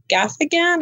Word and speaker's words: Gaffigan: I like Jim Gaffigan.